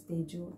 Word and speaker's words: Tejo: And Tejas is pronounced as Tejo.